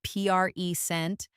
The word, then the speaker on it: present: When we say present with strong stress on the first part, it's a noun.